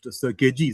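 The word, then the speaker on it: Sirkeci: Now before I come to my views on circ station by the way it's pronounced ciri c is pronounced as j in turkish I don't know why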